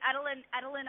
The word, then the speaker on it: Edelyn: Is it pronounced Edelyn? Okay. It's Edelyn.